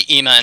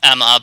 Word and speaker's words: Ema: saima because what cuz it's spelled weird right it's EMA there's no mm yeah yeah so that's why I say it's probably EEMA instead of Emma but everybody seems to